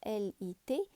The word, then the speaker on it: lit: pour dormir ali laraydh le t on ne le prononce pas l ite lit un oreiller des draps